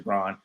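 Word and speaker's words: Braun: Brun Brown Excuse me even though it says brown brown right his M call him BR his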